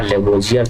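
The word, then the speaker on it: Lavoisier: तो रसायन शास्त्र के जनक भी यही कहे जाते हैं, लेवाज़्वे या लेवोजियर, दोनों एक ही नाम है। हिंदी में प्रोनाउंस इसको लेवाज़्वे किया जाता है, इंग्लिश में लेवोजियर लिखा जाता है।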